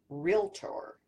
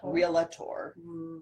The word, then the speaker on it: Realtor: It's Realtor. Realtor. It's not Realtor. Realtor? No. Wrong answer. No. There are no toaster bells. You're a realtor. Realtor. Yes, exactly. You're not a realtor.